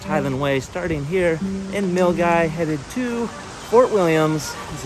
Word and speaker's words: Milngavie: Case in point, the starting town for the West Highland Way is pronounced Milgai, not Milngavie.